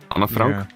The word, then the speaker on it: Anne Frank: Frankenstein I mean if if an Frank was Dutch then she would have said it in a Dutch way which is probably Anna Anna Frank yeah well I mean that is the German pronunciation I'm taking it by